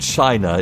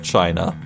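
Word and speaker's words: Qin: story about uh ancient China in the Chin Dynasty I think it's pronounced a constable was um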